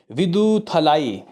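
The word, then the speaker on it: Viduthalai: हैं कि विदु थला इसको प्रोनाउंस करेंगे मेरे ख्याल से विदु थलाई ये आखिर कैसा कलेक्शन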